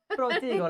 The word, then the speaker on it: Protego: I'm gonna move Harry up, and I'm gonna use Harry's protago, however you want to say it. Protego. Protego, like Stratego. You have to say it like this, Protego, and then you do the wand thing, like that.